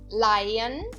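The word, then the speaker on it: leihen: como a iain certo Lion Lion Lion significa imprestar Lion aqui eu também não pronunciei o h eu digo Lion e o e e h eu pronuncio como a i Lion outra palavra F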